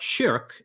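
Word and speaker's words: شرك: So the word shirk, written the same way but pronounced shirk in Arabic, means something like partner or associating a partner along with God.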